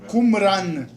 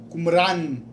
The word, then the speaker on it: Qumran: Vamos falar o nome do lugar, só para aceitar a pronúncia. Qumran. Qumran.